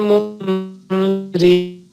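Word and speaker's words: مُنذِرِين: Ala qalbika litakuna minal mundirin, itu nun ketemu dal. Itu ditahan dulu, berdengung selama 1,5 alif. Jadi cara bacanya seperti ini. Ala qalbika litakuna minal mundirin.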